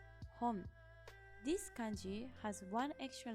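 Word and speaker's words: 本: This is pronounced as hon.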